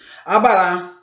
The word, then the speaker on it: abará: Abará. E outras, tem umas que não são acentuadas, mas a sílaba tônica não deixa de ser na última sílaba, tá ok? Por isso que ela é uma oxítona.